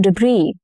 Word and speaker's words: debris: The street was full of storm debris. Now, since this is borrowed from French, the final consonant, which is letter S in this case, often goes silent.